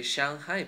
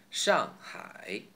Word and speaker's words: Shanghai: Example, Shanghai, the famous city, Shanghai. So no longer say Shanghai, please. It's Shanghai. Ong.